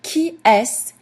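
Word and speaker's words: qu'est-ce: The question key s is spelled qi e s t- all of that boils down to keys.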